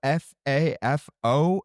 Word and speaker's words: FAFO: So, the topics that we're talking about today are F A FO. And for all of those that don't know what F AFO is, it's F around and find out. Is it ever just pronounced like fafo?